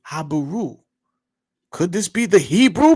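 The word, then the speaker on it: Habiru: But you would pronounce their name Habaru.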